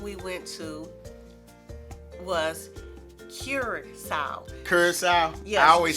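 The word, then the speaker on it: Curaçao: Curacao?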